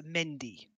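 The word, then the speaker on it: Mehndi: It's a Mendy. It's actually misspelt in Kingdom Death. It should be M-E-H-N-D-I, but it's spelled M-H-E-N-D-I, You've seen them before.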